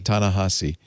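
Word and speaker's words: Ta-Nehisi: the world and me Tana how do you pronounce it on AHA C Tana hussy this is the most teenagers so I learned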